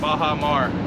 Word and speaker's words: Baja Mar: You know how to pronounce it? Baja Mar.